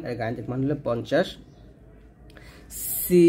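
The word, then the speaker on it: سين: গাণিতিক মান হলো 50 সিন সিনটা জিহ্বাটা নিচে তাতে লাগে উচ্চারণ করবেন আর সিন এর গাণিতিক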